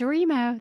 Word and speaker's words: Remo: Please welcome Dee Ann, and I want to pronounce this right. Is it Remo? It's Remo.